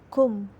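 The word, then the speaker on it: קוּם: termasuk bahasa Ibrani kuno dalam bahasa Ibrani diucapkan kum hal ini pada dasarnya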